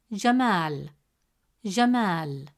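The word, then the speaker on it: جمال: Since the long vowel alif comes immediately after ma, it stretches the short a sound into a long a sound.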